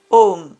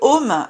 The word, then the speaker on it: Om: Chantez Om Namah Shivaya afin de raviver votre paix.